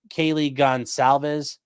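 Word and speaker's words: Goncalves: He then murdered Kaylee Gonsalves, which I didn't realize that's how you pronounce that, but okay.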